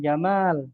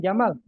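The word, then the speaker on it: جمال: orang namanya Jamal ya, kita panggil dengan mimnya dipanjangkan Jamal ya artinya ganteng. Tapi kalau kita pendekkan eh Jamal ya, maka artinya unta. Ya, kalau dia perhatian dengan bahasa Arab, marah dia dipanggil unta.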